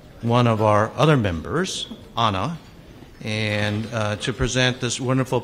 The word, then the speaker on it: Anna: It's my pleasure today to introduce my friend and fellow Rotarian, Anna, rhymes with Wanna.